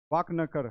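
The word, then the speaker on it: वाकणकर: क्या है डॉक्टर विष्णु श्रीधर पाक पाक पाक वाकनकर ठीक है वाकनकर ठीक है वाकनकर माफ कीजिएगा प्रोनाउंसिएशन ये क्या करते हैं आपको 1957 में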